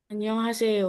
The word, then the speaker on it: 안녕하세요: 안녕하세요.